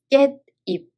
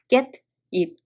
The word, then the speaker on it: 깻잎: If there's a sa-i-shi-ot and the following letter is e, 시옷 and e both are pronounced n sound. There are two examples. First one, 깨 plus 잎, 깻잎.